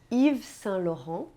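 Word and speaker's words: Yves Saint Laurent: clicou e que residam você percebeu que em nenhum momento eu pronunciei o te no final Pois é essa é mais uma das regras importantes e fundamentais da pronúncia francesa na maioria das vezes nós não pronunciamos as consoantes finais em francês você precisa se lembrar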